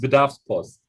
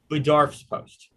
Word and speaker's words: Bedarfspost: it's Bedarfspost. Bedarfspost.